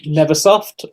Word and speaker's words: Nvrsoft: to uh welcome to solar tv um uh neversoft and the is that how you pronounce it obviously yeah yeah i actually i